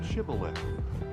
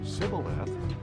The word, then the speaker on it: Shibboleth: If he answered no, they told him, "Please say Shibboleth." If he said Sibboleth, because he could not pronounce it correctly, they seized him and killed him at the fords of the Jordan.